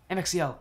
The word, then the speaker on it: MXL: as a Caster MX oh it's actually pronounced letters okay MXL got it I just